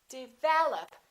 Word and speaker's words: develop: commonly confused words I a lot of people develop second syllable is stressed this is reduced this is reduced develop